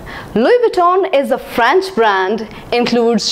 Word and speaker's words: Louis Vuitton: in the list is Louie Vuitton Louis Vuitton I have always pronounced it as Louis Vuitton but I was wrong this should be pronounced as Louie Vuitton Louie Vuitton is a French brand